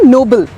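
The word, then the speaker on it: Nobel: confused हो जाते हैं कोई ना एन ओ बी एल ई ये वर्ड है नोबल मतलब कि अच्छा काम ऑनेस्ट काम ब्रेव काम और एक वर्ड है एन ओ बी ई L price जो इंटरनेट ेशनल प्राइज है इंटरनेशनल अवार्ड है दैट्स नोबेल किसी को नोबेल प्राइज मिला उसे नोबेल प्राइज नहीं मिला हां शायद उसके नोबेल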